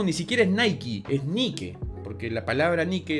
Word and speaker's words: Nike: porque por último ni siquiera es nike es ni que porque la palabra ni que es una diosa griega y en grecia no se pronuncia en inglés es ni qué pero bueno porque toda mi ropa es nike